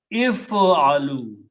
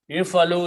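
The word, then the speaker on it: افعلوا: If you are telling many people to do something, you just put a waw and alif, which is not pronounced, and pronounce this sukoon as a dhamma. If alu. If alu is a command issued to several people, do something.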